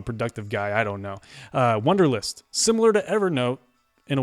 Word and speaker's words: Wunderlist: WUNDERLIST, and that's spelled with a U, WUNDERLIST for the Mac.